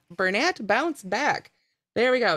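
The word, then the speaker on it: Bernat: to bounce right out of the basket it's pronounced burnett bounce back there we go now this one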